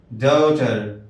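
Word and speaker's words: daughter: Servant. بنت بنت، بیٹی، ڈاٹر ڈاٹر۔ اس میں جی ایچ سائلنٹ ہے، اس کا قاعدہ اور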